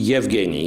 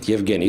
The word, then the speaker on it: Evgenij: So you pronounce the E? Evgenij, yeah? Evgenij. So same as Yesipenko, as we were learning Yesipenko, if you remember. Yesipenko, right. That's pretty much the same.